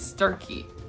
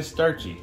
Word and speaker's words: Starkey: It's starkey. A lot of people say starchy. Yeah, it's not. That's starkey.